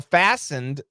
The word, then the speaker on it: fastened: pronounce fastened yeah so fastened obviously the t is silent like listen fasten the t is silent uh but the ending